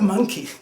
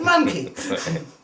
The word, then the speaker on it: Manky: Not monkey, but Manky. You know how, being a foreigner, I often pronounce words differently. Okay, the monkey, yeah. The Manky. Mm-hmm. It's not monkey, it's Manky.